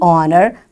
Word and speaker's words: honor: And we say the honor because the h is silent here as followed by a wall o.